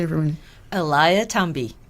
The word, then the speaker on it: Eliathamby: last name can you say it for me Eliah tumby Elia tumby mm did I say it right you did